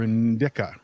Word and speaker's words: indica: note do you prefer sativa or in or indica in disa Indica that's not my preference that's just how you how you pronounce it um you know honestly I like